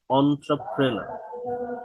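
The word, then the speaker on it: entrepreneur: এই শব্দটা এটা এন্টারপ্রেনিওয়ার অনেক কিছু বলে এটার উচ্চারণ আসলে হচ্ছে অন্ট্রপ্রেনার আমার সাথে সাথে সবাই একটু উচ্চারণ করুন অন্ট্রপ্রেনার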